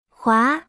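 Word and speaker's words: 华: repita en voz alta jua se pronuncia con el segundo tono es una palabra en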